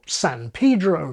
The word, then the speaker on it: San Pedro: This can give you Paris, like parish and Harris, Cuba, like cube, or San Pedro, like cathedral, or Einstein rather than Einstein, and on and on and on.